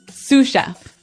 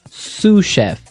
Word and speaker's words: sous chef: Um that brings us to our second word, sous chef. Sous chef. Sous chef. Sous chef. S o u s. So the s is silent because it's like a French word.